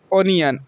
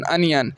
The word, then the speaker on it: onion: है ओनियन, ओनियन, अनियन, इसको आप लोग ओनियन बोलते हैं ना, ओनियन नहीं होता, अनियन बोलते हैं इसको, ONION, इसको क्या बोलते हैं, अनियन, अनियन, समझ गए। तो यहाँ ओ का उच्चारण अ हो जाएगा।